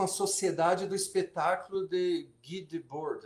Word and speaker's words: Guy Debord: sociedade do espetáculo de Guy Debord, acho que é francês, seria assim, né? Em inglês já seria Guy, mas daí já é outra pronúncia.